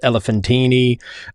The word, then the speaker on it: Elephantine: not so much but elephanttine and I've also heard it pronounced elephantine uh this was a